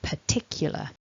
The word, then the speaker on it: particular: mark before that that we stress the tick component which is the second syllable of the word so particular tick is the strong